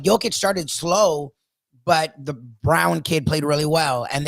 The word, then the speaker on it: Braun: They have five now with the Brown or Braun or whatever the hell you pronounce the name Braun. He wants to be called Brown for some reason.